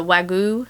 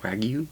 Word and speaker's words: Wagyu: For a savory, the one I think I'm most excited about is the Wagu. Is that how you say it? Wagyu.